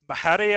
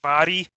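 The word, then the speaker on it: Mhairi: Yeah, it confuses a lot of people because it's spelled like M-H-A-I-R-I. And people right. think it's like Mahari or something, but it's pronounced like Vari.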